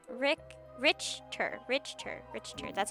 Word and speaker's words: Richter: Oh, RTOR. It's got to be RTOR, right? It's like totally RTOR. That's why he's like so against it, right? How do I pronounce Rick? Richter.